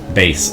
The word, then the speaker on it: bass: Bass.